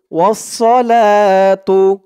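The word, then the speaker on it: والصلاة: তো ওয়াও দিয়ে সদ ধরবে, ওয়াসসালাতু। উচ্চারণটা হবে ওয়াসসালাতু। বিসমিল্লাহি ওয়াসসালাতু।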